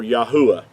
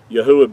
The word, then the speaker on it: Yahuah: So when you're saying Hallelujah, you are saying praise unto Yah or Yahuah. Yahuah being his whole name pronounced out with the four letters instead of the two.